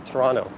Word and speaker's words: Toronto: do you pronounce toronto i kind of say with a very soft second tee toronto i barely pronounce it when is the coldest